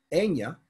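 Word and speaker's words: Eithne: In Irish, Enya is E-I-T-H-N-E, but it's still Enya. Where'd the T-H go?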